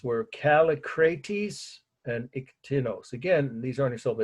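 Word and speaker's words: Kallikrates: And I would just say Calli and then Crates. That's how I do it, if that helps anybody to break it down into syllables.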